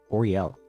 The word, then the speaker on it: Oriel: one I like is Oriel but some people call me which is also fine I understand like Orel is three syllables it could be a